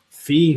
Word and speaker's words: Fe: think it's going to be hard one to spell it's apparently it's just f e fee they put a little till date at the